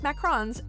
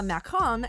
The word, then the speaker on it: macaron: If you don't know, a macaron is a little French sandwich-like cookie, the only correct pronunciation of which is with an obnoxious French accent.